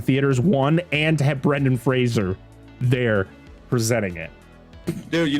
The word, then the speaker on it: Fraser: It's Fraser, not Fraser. Rhymes with razor.